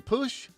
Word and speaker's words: Putsch: you say your last name push it's push like put your money where your mouth is oh put your money